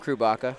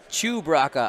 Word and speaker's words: Chewbacca: Chewbacca. I'm sorry. I always say it wrong.